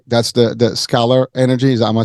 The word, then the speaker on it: scalar: So without further ado, Tom, let's talk about your journey that got you into Scalar, right? That's the Scalar energy.